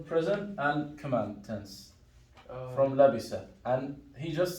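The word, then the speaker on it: لبس: So labisa, who can give me similar verb from your list? شرب. Exactly. Shariba, labisa, right? The same rhythm.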